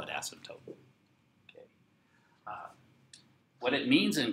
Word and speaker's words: asymptote: for a vertical and it sounds like a kind of like a nasty word that you shouldn't say but it doesn't have two S's it's an asymptote it's a Greek word